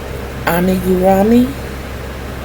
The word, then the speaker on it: amigurumi: That's why when I decided to do the amigurumi, did I say it right?